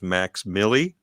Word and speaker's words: MVXMILLI: He has a stage name that he goes by, which is Max Milli, but it's spelled MVXMILLI.